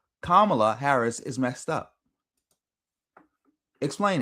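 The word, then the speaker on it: Kamala: Nobody can still to this day explain what Camala Harris act um Camala I'm hopefully I'm saying it right. Kamla. No, no, it's Kamla.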